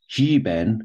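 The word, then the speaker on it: 日本: So this word here is jiben, as it's pronounced in Chinese, is Japan.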